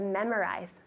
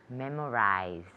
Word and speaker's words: memorize: How do you say to memorize in Spanish? Memorizar. Good, so really similar, except the pronunciation of the Z. Memorize. Memorize. Tell me. Memorize. Good, very good. So it's like a Z sound.